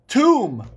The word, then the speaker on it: tomb: give you the word write the word tomb tomb like pharohs are buried in a tomb how to write a word tomb I didn't say dumb I said the word Tom guys there's your silent be but where do you